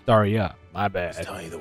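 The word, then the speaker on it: Tarja: Oh, that's how you pronounce that. That was Tarka. It's Tarya.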